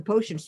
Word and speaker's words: potion: There's no T at the end. potion, it's Potion, potion.